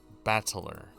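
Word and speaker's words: 戦人: Ba is made of the characters for fight and person. It's pronounced battler.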